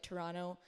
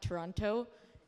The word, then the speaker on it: Toronto: I'm happy that you pronounce it like Toronto not Toronto you're basically a native um